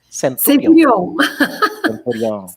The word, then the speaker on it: Centurion: Eu pronunciei o seu nome certo? Centurion.